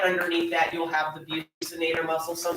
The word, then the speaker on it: buccinator: And then right underneath that, you'll have the buccinator muscle. Some say buccinator. So if you go to Bucky, you said right W, remember the buccinator, it's spelled the same way as the, what is he, a beaver?